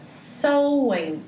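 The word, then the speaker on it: Samhain: nome que eles davam era sol essa que é a pronúncia correta é só em algumas pessoas chamam de sam ainda mas a pronúncia correta mesmo dos celtas era sol e então esse é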